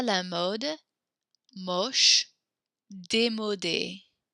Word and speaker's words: démodé: Joli, élégant, génial, chouette, à la mode, moche, démodé. The little accents means we pronounce that E.